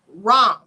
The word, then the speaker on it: Ram: of the seed syllable rom and it's spelled r a m but you pronounce it wrong not like ram the animal rom like you should pronounce